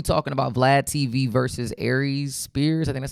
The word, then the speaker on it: Aries: Today we talking about Vlad TV versus Aries Spears. I think that's how you say his name. He's a comed. Yeah, it is Aries because that's his zodiac sign. He said that Aries is a comedian.